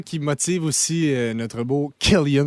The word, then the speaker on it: Killian: C'est un peu sûrement ça qui motive aussi notre beau Killian, parce qu'on prononce vraiment Killian, puis ça, je suis à 100% sûr.